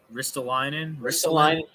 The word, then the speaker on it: Ristolainen: But again, as far as Ristolainen, how do you pronounce his name again? Ristolainen.